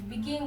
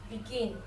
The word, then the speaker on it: begin: let's pronounce the world begin if the word became is pronounced what is pronounced begin begin the stress is on the second syllable the stress is on